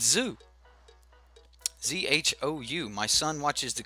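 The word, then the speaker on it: Zhou: Say it like Zao. Zao? But it's Zoo.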